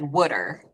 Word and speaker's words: water: A lot of people in South Jersey pronounce water as wooder.